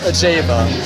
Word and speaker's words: Ajeva: how did you come up with the name a Jaa did I say I said it right right